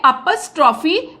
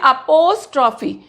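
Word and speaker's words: apostrophe: तो इंग्लिश में इसके लिए अपस्ट्रॉफी एस का अपस्ट्रॉफी लगाई जाती है। इसकी स्पेलिंग देखो, इसको कई लोग बोलते हैं अपोस्ट्रॉफी, जबकि इसका सही प्रोनाउंसिएशन क्या है? अपस्ट्रॉफी।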